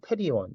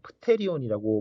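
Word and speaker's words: pterion: 그 다음 가끔 시험에서 많이 나오는 테리온, 프테리온이라고 뭐 읽지는 않고 테리온이라고 T 앞에 있는 P는 묵음으로 생각하시면 되는데 관자놀이점 혹은 익접점이라고 되어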